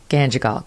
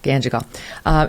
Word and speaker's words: Ganjgal: How do you pronounce the town? Ganjgal. Ganjgal.